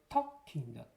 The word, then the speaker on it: talking: 이 L이 소리가 안 나죠? talking이라고 읽으시면 안 되고 talking입니다.